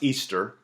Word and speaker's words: Ishtar: Ishtar, which is pronounced Easter, was a day that